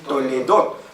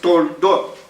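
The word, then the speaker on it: תולדות: Algunos lo leen toledot, por un signo que está ahí, que se llama Sheva, y algunos lo pronuncian como E. Pero generalmente ese signo es mudo, entonces es toldot.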